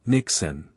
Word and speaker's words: Niksen: It's called Nixon, pronounced Nixon. Nixon comes from the Dutch word ny which simply means nothing.